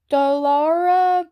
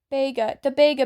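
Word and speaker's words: Dagobah: Dalara Beach. I totally said that wrong. The Bega Beach. Yep, that's how you say it, the Bega Beach Park.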